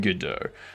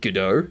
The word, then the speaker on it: Godot: I pronounce it Godot. Good to hear, iHeart. Good to hear. But that's how you say it in a French accent. A lot of words are totally different in an American accent from French. Words, yes.